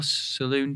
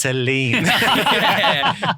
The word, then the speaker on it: Celine: Yeah, so Saloon Dion.